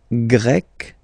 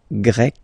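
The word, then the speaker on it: grec: and then you've got GRE masculine form GRE feminine form you write them differently but then if you listen carefully gre gre you pronounce them the same way okay Portugal portug portuges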